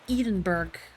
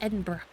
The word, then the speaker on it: Edinburgh: so many people say, they read it and they say Edinburgh, but it's Edinburgh.